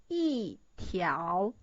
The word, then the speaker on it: 一条: When E meet the second tone, so the original pronunciation is 一条. It turns into 一条.